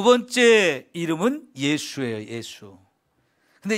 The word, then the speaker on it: 예수: 예수. 근데 이 이름도 하나님이 낳기 전에 이미 지어준 이름이에요. 임마누엘이라는 이름도 역시 하나님이 세상에 태어나기 전에 미리 정해준 이름인데요, 두 번째 이름이 예수인데, 이 예수라는 이름 발음은 헬라식입니다. 헬라식.